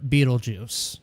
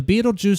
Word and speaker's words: Betelgeuse: So when you think about it, like, look at the star Betelgeuse.